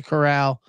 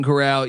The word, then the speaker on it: Corral: Corral yeah yeah okay Corral whatever Golden Corral e ECU graduat start